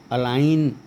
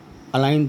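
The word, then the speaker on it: align: चाहे आखिरी में हो, अगर जी के बाद एन हो तो जी का उच्चारण नहीं होता है। तो ये हो गया अलाइन, फॉरेन, अलाइन दोबारा लिख दिया मैंने, साइन, असाइन।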